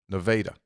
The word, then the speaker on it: Nevada: sure he told me it's spelled like Nevada but that's hurricane hurricane here yeah but but the a is long it's true Nevada yeah just about eight